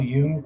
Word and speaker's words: Jung: or jungian criticism uh carl yoon was a famous psychoanalyst of swiss and he pronounced the name jung who came up with